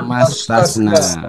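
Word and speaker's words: ثم استثنى: namanya Hamzah wasal sehingga harus dibaca apa harus digugurkan Pak tidak dibaca jadi cara bacanya bagaimana sum sumastasnaasana sumastasna oke sumastasna iya ya Pak Frqon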